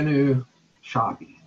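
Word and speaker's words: Jenő: second one is yeah new shocky I know it looks like Gino it's spelled je and oh but it's trust me on that one and yeah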